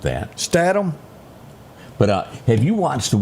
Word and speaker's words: Statham: And the only action one that really sticks out, and I'm going to say his last name wrong, is this Jason Status.